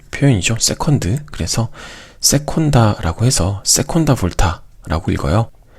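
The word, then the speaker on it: seconda volta: 그래서 세콘다라고 해서 세콘다 볼타라고 읽어요. 세 번째 것은 이렇게 테르자라고 읽을 수 있어요.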